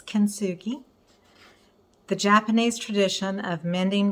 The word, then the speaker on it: Kintsugi: consugi is okay um kinsugi the tea is silent it's kensuki the Japanese tradition of